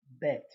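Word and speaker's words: בּ: a slash interview because if it has a DOT it would be bet then there is the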